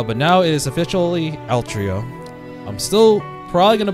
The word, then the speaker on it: Altria: There wasn't a an official localization, and that's uh that's how you pronounce it in Japanese, Arutoriia, which could also be Altria.